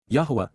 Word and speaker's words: Yahowah: YAHOWAH, YAHOWAH, the proper pronunciation of the name of Eloah, God as